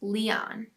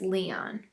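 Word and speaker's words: Lyon: the pronunciation and we would name him lion pronounced leon i got pregnant four months later with our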